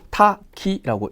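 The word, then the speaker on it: 多岐: 걸쳐 있다라는 뜻이죠 걸요 타기라고 1번으로 음독으로 읽습니다 한자 그대로 읽어 보시면요 다기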